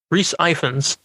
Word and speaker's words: Rhys Ifans: by Vanderbilt, and stars Andrew Garfield, Emma Stone, Rhys Ifans, right?